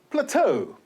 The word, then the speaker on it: plateau: And plateau, E-A-U, is pronounced as O.